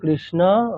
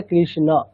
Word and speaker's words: কৃষ্ণ: কেন না, সংস্কৃতে ঠিক যেমনটা স্পেলিং আছে উচ্চারণও তেমনটাই করতে হবে। ওখানে অকার আছে মানে আমাকে অকারই বলতে হবে। তাহলে হরে কৃষ্ণ, সংস্কৃতে বললে কৃষ্ণ, কৃষ্ণ এরকম বলবো না।